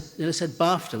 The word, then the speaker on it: BAFTA: I said Bafta, which rhymes with Dafta.